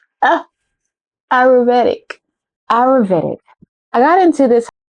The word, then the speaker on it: Ayurvedic: I used what was called the Avederic routine. Avederic, is that right? Pronunciation. Guys, it's been so long since I've done that, so let's pronounce it. Ayurvedic. Ah, Ayurvedic.